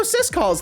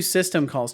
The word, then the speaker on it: syscalls: No, don't do system calls. Just say sys calls.